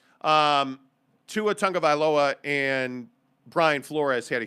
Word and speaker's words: Tagovailoa: But from what the reports are now, Brian Flores and Tua Tagovailoa, or excuse me, I think it's pronounced Vailoa. I could be wrong. Tua Tagovailoa and Brian Flores had a huge fight.